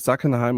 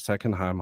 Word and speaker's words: Sackenheim: some questions okay so my name is zackenheim or secondheim however you like to pronounce it I'm an astrophotographer from